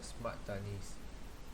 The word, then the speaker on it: Smart Tani: of the modern farming today, which is called smart tanis. It is spelled SMART-TANI, smart tani, the IoT and cloud solution.